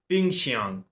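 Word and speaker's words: 冰箱: पहले बॉक्स में जो पहली पिक्चर है उसको हम नाम देंगे पिंग श्यांग। पिंग श्यांग। पिंकशियांग का मतलब है रेफ्रिजरेटर।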